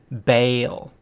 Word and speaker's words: Baal: the evil Canaanite god Baal or as we more commonly pronounce it baale with all of that